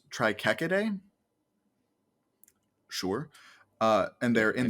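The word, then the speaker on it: Trichechidae: like i said sometimes it makes the ch sound sometimes it makes a k sound in in like these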